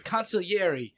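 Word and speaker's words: consigliere: conier conier no no there's no G you don't pronounce the G it's coniler fine anyway uh he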